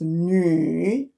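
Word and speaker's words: 女: Like for example, girl, a lady over here, a female pronounce a character like this, pronounced as nu. The vowel is yu. There's two dots. Compared with the wu, there's no dots.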